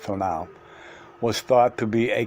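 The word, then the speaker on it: tonal: Mexico I knew that the toon Now Pronounce pronounced T now was thought to be a kind of godian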